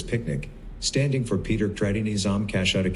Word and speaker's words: PQNK: later we renamed it pqn K pronounced as picnic standing for Peter kinam